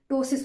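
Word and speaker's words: ptosis: टोसिस की बात करते हैं, पी साइलेंट इसमें रहता है तो हम टोसिस पढ़ते हैं।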